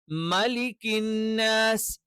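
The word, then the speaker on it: مَلِكِ النَّاسِ: വരും കുൽദുബി റബ്ബിന്നാസ് രണ്ടാമത്തേത് മലിക്കിന്നാസ് മ എന്നുള്ളത് അകാരമായിട്ട് തന്നെ വരണം മലിക്കി മലിക്കി അങ്ങനെയൊന്നും ഉച്ചരിക്കാൻ പാടില്ല മലിക്കിന്നസ് മലിക്കിൻ അല്ലാതെ മലിക്കിന്നാസ് മേ ആയി പോകാൻ പാടില്ല അപ്പൊ ഇവിടെ ഇത്രമാത്രം ശ്രദ്ധിച്ചാൽ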